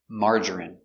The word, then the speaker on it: margarine: Margarine. M. A. Open sound. Amar. Mar. J- strong J. Marger. Marger. I marerie. Marjgerie. Margarine. Margarine. Margarine. Three syllables. Stress only. First syllable. Mar.